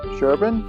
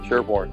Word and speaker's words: Sherborn: one thing has never been settled how to pronounce the name of our town sherban Sherborn sherban Sherborn sherban sherban named sherban as long